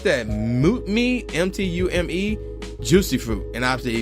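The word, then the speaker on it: Mtume: Oh, how you pronounce that? Mutme, M-T-U-M-E, Juicy Fruit.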